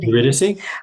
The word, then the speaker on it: Eurydice: Eurydice? Eurydice? Eurydice.